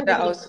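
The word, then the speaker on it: Geradeaus: di questo tuo brano, che si chiama Gerhard de Haus, è giusto in tedesco, Sì, penso sia Gradaus, così.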